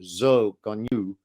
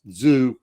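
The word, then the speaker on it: Zhou Guanyu: glad to see that which is actually pronounced zoke on you but nonetheless zoo works fine glad to see he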